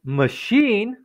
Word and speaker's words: machine: Mas machine, neste jeito, tem a CH mas pronuncia com a sh, como a s h.